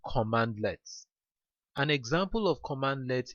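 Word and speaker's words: cmdlets: uh this CMD lets by the way is pronounced command lets an example of command lets include get help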